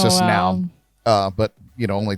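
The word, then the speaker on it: PNAU: australian dance act now i feel like the p is silent and then it's just now uh but you know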